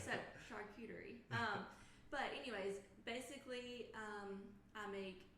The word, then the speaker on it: charcuterie: Charcuterie is how you say it. Thanks, I didn't. Yeah, a lot of people have no idea how to say it. So charcuterie.